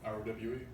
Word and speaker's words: Rowe: ROWE. That's how you say it, though, Rowe. Yeah. Thank you. I just want to make sure that E wasn't. Yeah, no, I get it all the Doing time.